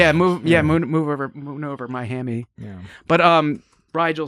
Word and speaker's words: Rigel: Now, the question is he mispronouncing it or is everyone else mispronouncing it? Here we go. It's him. Moon over Rigel 7. Rigel 7. As opposed to Rigel. Rigel. We always hear Rigel.